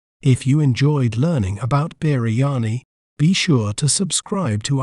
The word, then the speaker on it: biryani: We may pronounce it as biryani, biryani, b, gri, ya, ni, biryani.